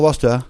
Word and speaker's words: Worcester: Il faut pas dire Worcester. Worcester, il faut dire Worcester.